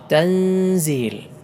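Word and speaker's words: تنزيل: റബ്ബിൽ ആലമീൻ ആദ്യത്തെ പദം തൻസീൽ തൻസീൽ ശ്രദ്ധിച്ചു നോക്കൂ സാക്കിനായ നൂനിന് ശേഷം സാഹ് വന്നു സാക്കിനായ നൂനിന് ശേഷം സാഹ് വന്നാൽ ഇഹ്ഫാ ചെയ്യണം മറച്ചു മണിച്ചു കൊണ്ടാണ് ഓതേണ്ടത് തൻസീൽ തൻസി മണിച്ചുകൊണ്ട് ഓതണം മറ്റൊന്ന് ആണ് സഫീറ അഥവാ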